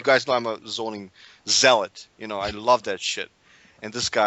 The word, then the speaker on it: Zealot: you say it Zealot I always thought it was zot it's May it may have two pronunciations I'll check the dictionary by the way it's Zealot that's how Tom also says it I'm like dude Tom it's Zealot dude what it's Zealot yeah not zot I'll take your word